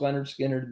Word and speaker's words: Lynyrd Skynyrd: songs their their first album pronounced Leonard Skinner this and they're uh